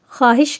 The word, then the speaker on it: خواہش: آواز نکلتی ہے اور بعض الفاظ میں واو کی آواز نکلتی ہی نہیں ہے۔ تو مثال سے سمجھیں گے، مثلاً خواہش۔ اب آپ اسے خواہش کہیں گے۔ خواب، واو کی آواز